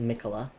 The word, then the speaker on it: Miquella: I believe that is how you say it, Miquella.